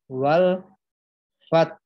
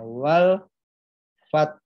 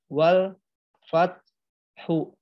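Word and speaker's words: والفتح: Contohnya wal fat. Nah, wal fat. Jadi bukan dibaca wal fathu, bukan juga dibaca wal fah. Nah, jadi dibacanya yang benar, taknya ditekan tinggi, haknya diikuti suara hak sukun dengan nada yang rendah.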